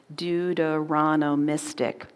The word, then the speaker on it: Deuteronomistic: It's 6 syllables, Deuteronomistic.